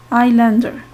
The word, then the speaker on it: islander: The S here is silent. Islander, it's coming from island.